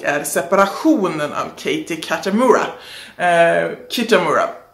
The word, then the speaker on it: Kitamura: Kitamura säger vi att det uttalas.